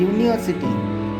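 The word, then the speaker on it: university: Words begins with vowel, but इसका जो starting का जब प्रोनाउंसिएशन करते हैं तो वो य की तरह हो जाता है।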